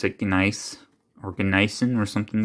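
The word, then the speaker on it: gneiss: think they pronounce it nice organizing or something like that if i remember correctly but in english we just say nice the g is silent oh awesome this i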